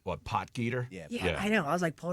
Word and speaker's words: Potgieter: Your guy, I'm going to let you pronounce his name. What, Potgieter?